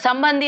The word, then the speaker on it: ಸಂಬಂಧಿ: ಏನು ಹೇಳ್ಬೇಕು ಗೊತ್ತಾಗಲ್ಲ ಬಟ್ ಸಂಬಂಧಿ ಅದೇ ಯುಶವಲಿ ಗೊತ್ತಾಗಿಬಿಡುತ್ತೆ ಅದ ಎಲ್ಲರೂ ಪ್ರೊನೌನ್ಸ್ ಹಾಗೆ ಮಾಡ್ತಾರೆ ಸಂಭ ಸಂಬಂ ಸಂಬಂ ನೋಡಿ ನ ಅನ್ನೋದು ಅನುಸ್ವಾರ ಆಮೇಲೆ ಧಿ ಸಂಬಂಧಿನ ತಥಾ ಬರೆದಿರೋ ರೀತಿ ನೋಡಿ